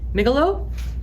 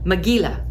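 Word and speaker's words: Megillah: Um, migalo. Is that how you say that? Ellen, tell me how to say that. Mila. Maggila. Thank you. I'm sure I've butchered so many words, but mila I now know is the right way.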